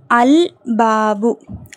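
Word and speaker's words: الباب: பார்க்கலாமா சோஃர்ஸ்ட் இஸ்ம பாருங்க அல்பாபு அல் பாபு ஏன் பாங்கிறது கமரியாவுடைய எழுத்து சோ அல் பாபு ஓகேங்களா ரைட் அந்த கதவு த டோர் அடுத்து அத்தாஜிரு அத்தாஜிரு லாம் உச்சரிக்கப்படல ஏன் தாங்குறது ஷம்சியாவுடைய எழுத்து.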